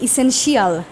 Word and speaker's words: essential: সো এই ওয়ার্ডটাকে আমরা অনেক সময় এইভাবে বলতে থাকি ইসেনশিয়াল। এই যে লাস্টে কিন্তু এই শিয়াল চলে আসছে। ঠিক আছে, ইসেনশিয়াল, বাট এই শিয়াল বলা যাবে না, এটাকে উচ্চারণ করতে হবে শল, ইসেনশিয়াল, ইসেনশিয়াল, ইসেনশিয়াল।